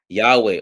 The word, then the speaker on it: Yahweh: I posted a documentary Yahweh oh that's how you pronounce well he says it at the end yeah because at the original Hebrew didn't have didn't have vowels it was all consonants right YW uh HW is Yahweh so while doing research